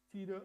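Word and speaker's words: Thiede: Another papyrologist, Carsten Tiede, and by the way, the TH in German is silent. It's just like, sorry, not silent, just pronounced as a T, not as a TH. Tiede argued, based on scraps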